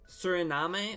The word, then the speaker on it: Suriname: is called Suri name Suriname I don't know how to pronounce it actually let me look that up interesting Suriname so that's what it that's how it's pronounced however it looks like